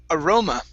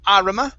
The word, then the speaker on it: aroma: decorations very nice um this word here is pronounced aroma instead of arama it's aroma very nice and the last